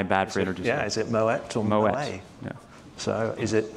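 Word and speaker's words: Moët: yeah so is it I didn't realize that the T was pronounced my bad for yeah is it Moet or Mo so is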